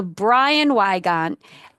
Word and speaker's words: Brian Weygant: So Brian Weygant, I said it right.